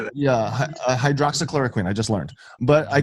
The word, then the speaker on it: hydroxychloroquine: Team hydroxychloroquine.